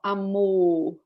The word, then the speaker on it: amor: Amor.